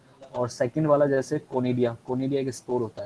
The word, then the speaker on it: conidia: आपने सेकंड पे नाम लिखा उसका सर एक बार प्रोनाउंसिएशन बता दीजिए। कोनिडिया, CONIDIA, okay sir.